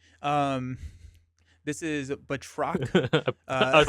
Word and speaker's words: Batroc: Is it Batroc, but Batroc? Batroc is the fun way to say it, and Batroc is the correct way to say it.